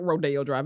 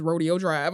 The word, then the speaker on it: Rodeo Drive: can mispronounce the word it's not Rodeo Drive it's Rodeo Drive it's Rodeo it is it ain't gonna be